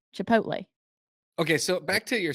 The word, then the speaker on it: Chipotle: c h i p o t l oh Chipotle Chipotle okay so back to your sausage because I'm